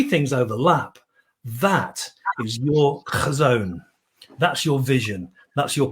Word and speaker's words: Chazown: It's actually a Hebrew word, and when you pronounce it correctly, it's Chazown apparently, and that's apart from being a really good way of clearing your throat.